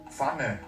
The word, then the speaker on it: Pfanne: 끝의 발음 프가 들어간 단어를 보겠습니다. Pfanne.